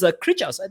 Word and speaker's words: Krichas: of Hot Springs and ending towards Krichas. Is that how you pronounce it? I don't know, Fixes. Is that how you pronounce it? Absolutely, that's how it's pronounced.